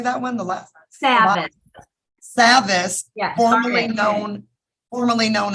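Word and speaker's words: Savvas: do you say that when the last time savvis yes Formerly Known formerly known as Pearson yes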